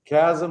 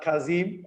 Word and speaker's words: Kazım: Kazım, like in sarcasm. It's not Kazim, as you would normally read the Turkish letters.